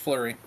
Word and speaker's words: Fleury: Yep, it's just Fleury.